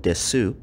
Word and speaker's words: desu: are also notice that though the word is spelled desu the ending u sound is underpronounced this is done with